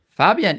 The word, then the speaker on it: Fabien: Yes, thank you, Fabien, for that Is it Fabien or Fabien? Fabien.